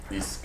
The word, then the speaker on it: Iski: Ski, ou Sky, enfim, na realidade, a pronúncia é igual o nome da empresa, né? Tipo assim, meio quase indefinida. Mas assim, no final acabou sendo Isk. Isk.